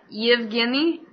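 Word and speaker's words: Evgeni: Malkin you've Guinea how it's like y-e like Eve Guinea yeah so how do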